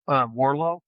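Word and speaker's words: Warrillow: Built to Sell by John and the last name was Warllo, but it's spelled Warillo.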